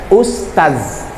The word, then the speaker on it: Ustaz: Arti Ustadz itu kayu. Masa saya dipanggil kayu? Yang betul adalah Ustaz.